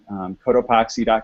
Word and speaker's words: Cotopaxi: go to our website cotopaxi calm it's a little tricky word but it's spelled the way it sounds so co t OU PA x I and if you just